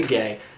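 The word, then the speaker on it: Guay: my favorite card artist Rebecca gay gu u a y it's pronounced gay no question none whatsoever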